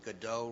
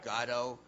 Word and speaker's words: Godot: other superstars and suddenly discovering that i've been pronouncing godot wrong the whole time and it's now gato this is a real